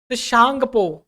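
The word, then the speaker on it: Tsangpo: में ओरिजिन होती है सांगपो सांगपो देखिए इसमें टी साइलेंट हो जाता है ठीक है टी साइलेंट की वजह से सांगपो के नाम से जानते हैं और यह जब यहां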